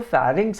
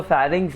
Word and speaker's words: pharynx: तो सांस गई सबसे पहले नेजल कैविटी, लैरिंग्स, जो PHARYNX था उसको लिखा हुआ तो फैरिंग्स है, पर उसको प्रोनाउंस करते हैं लैरिंग्स। हाँ तो मैम ने बताया था वहां शायद पे मार्क कर लेना, उसको प्रोनाउंस करते हैं लैरिंग्स, एल से प्रोनाउंस करते हैं उसको, लिखते हैं पी से, लैरिंग्स।